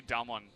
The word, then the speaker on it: DAMWON: able to find anything the way you say dumb one is really interesting - you say it like Dom Juan which always reminds me